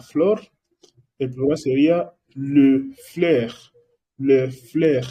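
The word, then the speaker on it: fleurs: El plural sería le fleur. Le fleur. Y tienes que entender que no estoy pronunciando la S final, ¿verdad?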